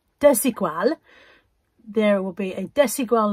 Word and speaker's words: Desigual: Took me a while to learn how to pronounce it. I used to say Desigual. Desigual.